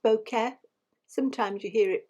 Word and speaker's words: bokeh: It's pronounced bokeh. Sometimes you hear it pronounced bokeh.